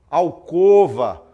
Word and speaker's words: alcova: Olha só exemplo sair pronúncia correta timbre fechado e e o né Então você fala omelete alcova crosta são palavras são times corretos né então você omelete alcova crosta não é o omelete ao curva e crosta muito bem pronúncia errada de time aberto é e o omelete alcova e crosta muito bem então você